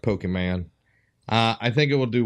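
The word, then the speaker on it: Pokémon: You pronounce it wrong. It's Pokemon.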